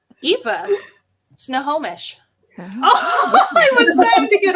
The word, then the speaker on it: Snohomish: Snomish. Eva. Snohomish.